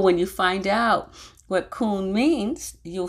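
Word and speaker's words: kuwn: word the hebrew word k-u-w-n or k-o-o-n is how you pronounce it kuhn and i thought that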